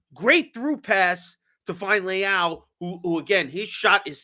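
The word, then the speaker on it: Leão: Instead of Leao, Leo.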